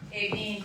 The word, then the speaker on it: Aveen: Aveen. A-D? A-V-E-E-N. Is how you pronounce it.